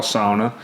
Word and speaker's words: sauna: Finnish style sauna, and that's how you say it correctly. Me and Chelsea, we still say sauna, but in the accurate sense, you would say a Finnish style sauna, which is gonna be Sauna.